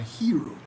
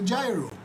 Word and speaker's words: gyro: a gyro and a hero but in greece where the did jairozan which come from gyro is pronounced hero but it's spelled gyro and the people who